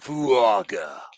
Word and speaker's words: Fuaga: his name fuaga fuaga you have to say it like fuaga yeah it's great isn't